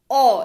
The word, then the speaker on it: aww: और ये वाला एक्सप्रेशन जब आप इस्तेमाल करें, AWW, ओ, इसका उच्चारण होता है ओ, किसी अच्छी या प्यारी चीज की प्रशंसा के लिए इसका इस्तेमाल होता है।